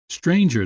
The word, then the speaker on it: stranger: and sum and home stranger does not rhyme with anger neither does devour with